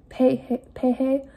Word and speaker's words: Paia: what it's called, in Paia, Hawaii. I'm sorry, the A's are pronounced as E's. Pehe, Hawaii.